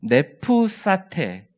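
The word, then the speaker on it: νήψατε: 네프사테, 이 발음을 이렇게 합니다. 네프사테라고 해요.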